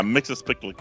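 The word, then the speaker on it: Mxyzptlk: that mixie picked mixed your spit lick yeah mixes pick like there you go it's a hard name and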